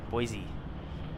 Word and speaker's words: Boise: off to San Francisco Rudy says Boise all right Boise is the pronunciation we have an arrival